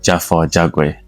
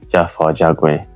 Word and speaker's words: Jagwe: All right, for the viewers watching, so my full name is pronounced Jagwe. Yeah. So a lot of people that I've met in work and outside, they pronounce it wrong. Even in my current occupation, they pronounce my name wrong, but it's Jagwe.